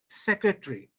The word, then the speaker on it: secretary: t and r this a gets silent secretary military basically automatically you can check it in your dictionary you will not find this a sound there similarly a sound you